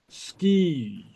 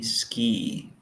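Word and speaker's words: sgìth: Ha mi ski. Ha mi ski. Yeah, note the long I.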